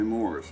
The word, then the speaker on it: Maurice: I'm here with Maurice. Did I pronounce it correct? Yep. Wow! My mother spelled it Maurice, and she called me Morris.